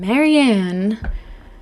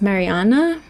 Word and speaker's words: Marianne: Today we are talking about Leonard Cohen, the singer, songwriter, poet, and Marianne, the woman who he loved and inspired him. She's Norwe. She was Norwegian and her name is actually pronounced Mariana, but most people call her Marian.